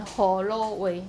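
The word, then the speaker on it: 河洛話: And Ho Lo Wei, that's the Southern Min pronunciation.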